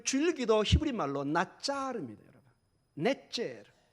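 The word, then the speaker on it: נצר: 넷제르. 발음이 뭐가 비슷하죠? 나사렛과 비슷합니다.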